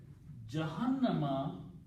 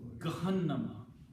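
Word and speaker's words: جهنم: Jahannama actually is a Hebrew word. Gahannama. They call Gahannam. Okay. In Arabic, it is pronounced as Jahannam.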